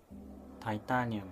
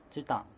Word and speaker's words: チタン: をしますえ例えば TI はタイタニウムではなくチタンと言いますこのように日本